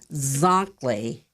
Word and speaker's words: Zankli: Frank why calm or go there hello to Zack Lee Chronicles dot-com and I'll spell that for you it's spelled like exactly but